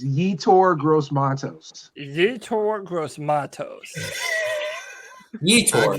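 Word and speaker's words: Yetur Gross-Matos: It's Yetur Gross Matos.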